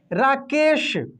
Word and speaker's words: राकेश: जब आप इस श का उच्चारण करेंगे ना, तालव्य श का, तो आपका मुंह पूरा खुलेगा, राकेश, ठीक ना, राकेश ऐसे। लेकिन ये दंत स का करेंगे तो आपका मुंह लास्ट में बंद हो जाएगा, स, ठीक ना, स, देख रहे हैं ना।